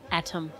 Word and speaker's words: Atom: I'm going to say his name is Atom McGoyan because it's A-T-O-M, not Adam.